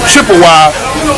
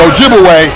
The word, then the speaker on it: Ojibwe: And of course they corrupted the pronunciation of the Ojibwe people to Chippewa. So Chippewa and Ojibwe, that's the same people. But Chippewa is the European corruption of their real name, Ojibwe.